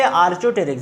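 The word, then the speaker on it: Archaeopteryx: फिर इम्पॉर्टेंट MCQs, इंतहाई इंपॉर्टेंट, अक्सर जगहों पर पूछा है, अक्सर जगहों पर आया है कि आर्चोटेरिक्स, अच्छा ये आर्चोटेरिक्स बेटा, ये पी इस पे साइलेंट है, सही है।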